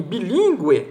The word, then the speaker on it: bilíngue: Por exemplo, linguístico, U é pronunciado. Em bilíngue também.